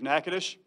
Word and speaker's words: Natchitoches: staff the university community and the community of natchitoches i've been told that's proper term to say